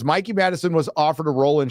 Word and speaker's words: Mikey Madison: Campia recently said that Mickey Madison was offered a role.